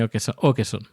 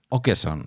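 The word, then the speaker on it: Åkesson: La A con un sombrerito con una O encima. Con un Sí, con una especie de circulito por encima. Se pronuncia o cedilla o cejilla. Ya no me sé cómo se llama. No, no. O que eson.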